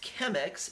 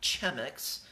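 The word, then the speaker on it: Chemex: get a chem X all right it is pronounced chem X and not gem X all right so we have chemic Sauveur here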